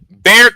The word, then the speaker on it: Bexar: Guess what the Bexar County, yes, Bexar County. I know Bear spelled with an X, but it's Bexar County.